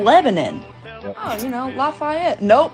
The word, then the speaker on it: Lebanon: no it's milin milin oh you know like the country Lebanon no it's goddamn Lebanon oh you know lafette